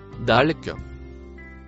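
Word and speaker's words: ذلك: Le mot avec la lettre noire et de lettres vertes se prononce Dalk.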